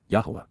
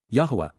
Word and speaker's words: Yahweh: Yahweh. Yahweh. The proper pronunciation of the name of Hiloah, God, as directed in his Torah.